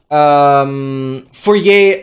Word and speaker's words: Fourier: Fourier? Yeah, that's how you pronounce it, yeah.